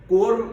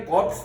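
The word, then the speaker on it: corps: कुल मिलाकर 14 14 कोर्स है आज की तारीख में और याद रखो कोर को प्रोनंसिएशन बहुत बार लोग गलत करते हैं सीओ आर पीएस स्पेलिंग है कोप्स नहीं बोलते उसको कोर बोला जाता कोर और कमांड दोनों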